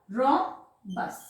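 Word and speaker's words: rhombus: इस फिगर को क्या बोलेंगे, ये फिगर बोलते हैं हम इसको रोम्बस। ठीक, कैसे, ये एच साइलेंट हो गया, रोम्बस।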